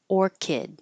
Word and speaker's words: orchid: all Kansas and Arkansas this ch here sounds like a k orid Orchid the the flower but this CH sounds